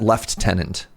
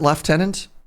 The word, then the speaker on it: lieutenant: This word in Canadian, you pronounce that left tenant. Wait, do do Americans also pronounce it left tenant?